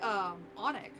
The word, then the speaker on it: Alnwick: It's Onic Castle. Or is soup just seasoned water? English being English. Especially things in, like, England, like, to just ignore letters.